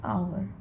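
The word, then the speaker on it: hour: क्यों पुट किए क्योंकि आवर जो होता है एज साइलेंट हो जाता है हम लोग प्रोनाउंस करते हैं ओ तो ओ क्या होता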